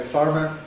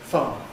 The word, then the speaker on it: farmer: So nowadays we don't say farmer, we say farmer.